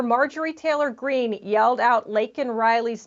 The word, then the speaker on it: Laken: Biden's border crisis, and he calls her Lincoln Riley.